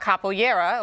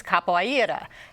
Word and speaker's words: capoeira: part in its origin we're talking about capera or as it's pronounced in Portuguese capoa a very unique Brazilian